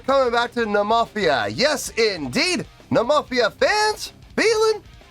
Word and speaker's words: Nemophila: Someone provided me with a video of the ladies themselves pronouncing the name. Nemophila desu. Nemophila desu. Nemophila desu. Nemophila, Nemophila, Nemophila, Nemophila, Nemophila, Nemophila, Nemophila, Nemophila. And I listened to their pronunciation over 100 times. Nemophila, Nemophila, Nemophila, Nemophila. That is not an exaggeration. Seriously, I listened to it over 100 times. Nemophila, Nemophila, Nemophila, Nemophila. And I now know that I'm pronouncing it exactly like they are.